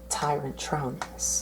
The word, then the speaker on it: Tyrantronus: Tyrantronus.